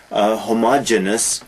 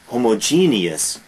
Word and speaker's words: homogeneous: other heterogeneous and homogeneous often mispronounced homogeneous no homogeneous heterogeneous ious heterogeneous is